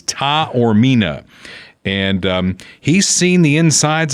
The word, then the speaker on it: Taormina: So he gave me a pronunciation guide. It is Taormina.